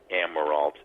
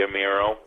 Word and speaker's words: Amirault: you can do Emerald calm and I think you you pronounce it the French Way which is great it should be a mural but my granddaddy Americanized